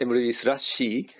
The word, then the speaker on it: mruby/c: about emeryvisa c and this is the pronounced emory slash c so the mechanism is